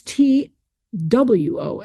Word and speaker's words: two: And it the word to TWO came from an older word that where we probably pronounced that W.